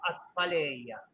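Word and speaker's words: asphaleia: Un término que Aristóteles en la antigua Grecia llamaba aspaleia, así como se pronuncia aspaleia, pero se escribe A-S-P-H-A-L-E-I-A, aspaleia.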